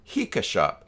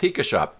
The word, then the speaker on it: HikaShop: that's how it's pronounced, HikaShop. Now, if you play Pokemon, like I do, it rhymes with Pika, as in Pikachu. So it is officially HikaShop.